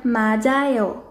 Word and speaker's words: 맞아요: Quando a letra depois deles for uma vogal, tiut continua com o som original, mas tiut vai de tchá para já. Como na palavra 맞아요.